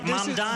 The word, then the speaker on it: Mamdani: This Just is say the name right, Mamdani.